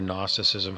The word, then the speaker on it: gnosticism: to call it gnosticism it starts with a big g silent g n o s t i c i s m gnosticism which has to